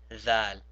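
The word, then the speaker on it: ذال: Now notice that when I said thal, I also put my tongue in between my teeth. This is the same thing as the tha. So we say tha and we say thal instead of saying sa and zal.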